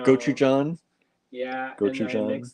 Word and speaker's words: Gochujang: We have that gojichi or whatever. Oh yeah. You always say it wrong. I can't think of what it is. I know. Gochujang.